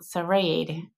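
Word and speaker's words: Srđ: way up to Mount Serade and that is spelled S R DJ. And it if you're an American like me, it's kind of strange to see a word without a vowel in it, but uh that is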